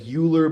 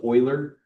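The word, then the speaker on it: Euler: the Swiss mathematician Leonard Oiler. So I know it looks like Uler but it's pronounced Oiler.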